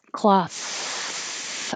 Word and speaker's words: cloth: that here yeah and the th is voiceless cloth only air and the vowel is ah cloth and then 18 is